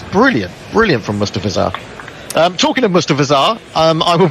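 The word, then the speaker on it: Mustafizur: It's Mustafizar.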